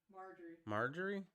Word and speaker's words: Marjorie: Majorie? Is it Majorie? Majorie Tyler Green out. Marjorie? Marjorie? Yeah. Oh, I don't like that name, or at least how it's spelled.